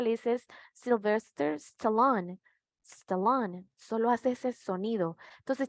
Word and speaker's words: Stallone: Ahí no hay una E, le decía, porque él dice eso, y cuando ella lo pronuncia correctamente, ella le dice es Sylvester Stallone, Stallone, solo hace ese sonido.